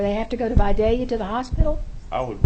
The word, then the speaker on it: Vidalia: have now, because of, is it Vidalia? Yes, ma'am. And that's how I pronounce it too. Representative Reinders? You actually pronounced it correct.